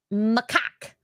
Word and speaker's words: macaque: Okay, so people are saying it's pronounced macaque.